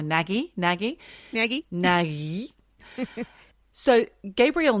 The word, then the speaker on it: Nagy: Nagi who went missing I don't know if that's how you pronounce his names n a g y naggi or naggie naggie naggie naggi so